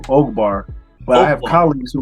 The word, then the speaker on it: Ogbar: so don't feel bad I actually had to put it on my zoom call with a long o so you see my name oakbar but I have colleagues